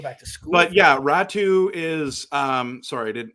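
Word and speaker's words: Räty: you hear that they they used the the name ratty uh and I thought well that's ratu by the way oh is it r a t y how do you pronounce that yeah is ratu oh that's isn't that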